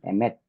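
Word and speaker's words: אמת: 정미연님, 자, 에메트인데 여기 강세가 알렙에 들어가는 것이 아니라 맴에 들어갑니다. 쉐바는 강세 받지 못합니다. 반모음이 어디 강세 받겠습니까? 그래서 에메트에서 두 번째 발음되고 우리나라는 에메트 세 발음되지만 히브리어에서는 완전한 모음만 음절로 취급되어서 완전한 모음은 쉐골이라고 맨 밑에 하나밖에 없어요. 그래서 에메트에서 한 발음으로 발음됩니다.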